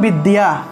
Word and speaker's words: বিদ্যা: বিদ্যা, এই যে বিদ্যা, এই বিদ্যা শব্দটাকে আমরা কীভাবে উচ্চারণ করবো? এই যে এখানে একটি জফলা আছে, অন্তস্থ জফলা, তাহলে এই অন্তস্থ জফলার পরিবর্তে ইয়ো উচ্চারণ আসবে, তাহলে বিদ্যা, বিদ্যা, বিদ্যা, ঠিক আছে? অন্তস্থ জয়ের পরিবর্তে ইয়ো উচ্চারণ, আর আকার যেহেতু আছে, একটা আকার লাগবে, তাহলে বিদ্যাকে বলবো বিদ্যা, বিদ্যা, বিদ্যা, বা এভাবে আমরা উচ্চারণ করতে পারি।